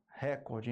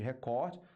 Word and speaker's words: recorde: a prosódia tá então falar recorde em vez de recorde é um problema quanto a prosódia Ok então a dona